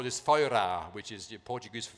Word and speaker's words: Feuera: So they were gonna call this Feuera, which is the Portuguese for fire, F-E-U-R-A. Which the English pronounce Führer.